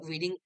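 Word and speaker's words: wedding: তারপর you ought to have present at দ্য ওয়েডিং of your, উচ্চারণ কি হবে? উইডিং না, ওয়েডিং, ঠিক আছে, ওয়েডিং অফ ইউর ফ্রেন্ড, কিন্তু তুমি থাকোনি সেখানে, ঠিক আছে।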